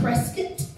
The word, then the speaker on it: Prescott: We're up in Prescott?